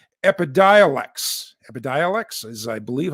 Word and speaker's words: Epidiolex: and you've heard about this drug called epidiolex epidialex is i believe how it's pronounced this is the only drug that is